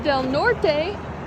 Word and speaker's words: Del Norte: We're in Del Norte, or pronounced Del Nor. Don't say the T or the E.